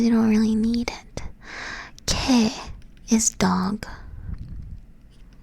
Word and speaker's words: 개: 개 is dog. 개. Does that make sense? 개. Not with like, it kind of sounds like a K, but it's not. It's like in between G and K, this letter right here.